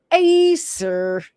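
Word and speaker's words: Æsir: Let me click A goddess Google said, 'A seer is pronounced A-sir. A-sir.'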